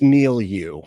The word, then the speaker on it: milieu: I can't It's milieu. We all know how to say it fucking right, you weirdo.